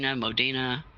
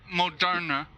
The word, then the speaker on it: Moderna: Well, they had the I know I'm saying the name wrong. Modina. Whatever. Moderna.